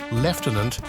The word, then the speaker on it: lieutenant: leftenant phenomenon in Britain the pronunciation leftenant is believed to have originated in the 17th century it's an example of metathesis a linguistic process where sounds or letters switch places the IU sequence in